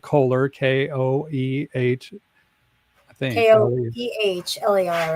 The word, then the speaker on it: Koehler: And so Tony Anchetta, Keeler, or it's spelled Kohler, Koeh, I think. Koehler, right?